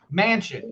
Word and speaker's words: Manchin: uh interview with uh senator manchin i think is how you say his name mansion excuse me senator manchin